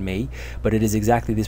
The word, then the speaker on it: 没: about the Chinese character May May in the second tone and its meaning when